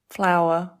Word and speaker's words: flour: use this to make bread flour correct our our it's got The Owl and the ER our flower very good your turn